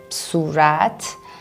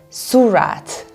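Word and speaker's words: صورت: for example the word surat which means face most foreigners pronounce this as surat and they put the stress on the first syllable rather than the second one and therefore they sound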